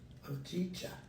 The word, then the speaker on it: hojicha: Hojicha.